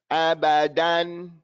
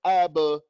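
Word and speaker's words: أبدا: Abba. Don't get lazy on the middle.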